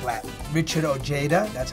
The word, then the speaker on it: Ojeda: Richard Ojeda. That's how they say his name. Ojeda. They butcher it that way. It should be Ojeda, right? Because he's Mexican.